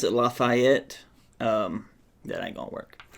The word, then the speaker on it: Lafayette: I don't pronounce it Lafayette. That ain't gonna work. I don't pronounce it Lafayette. It's Lafayette. That's my pronunciation of it.